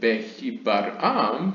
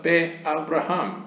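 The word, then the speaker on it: בְּאַבְרָהָם: Do not pronounce it Behibaram, but Be-Abraham, literally by Abraham, spelled with the same letter.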